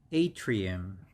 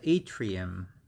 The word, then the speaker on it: atrium: is divided into two sections left and right atrium atrium we pronounce this one as a three um so atrium atrium so left atrium and right atrium and